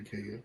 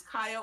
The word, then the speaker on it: Kaya: It is Kaya or Kaya. Oh, okay. Just making sure, because I like. Because I go by both because I like attention and I like to have a mysterious air about it.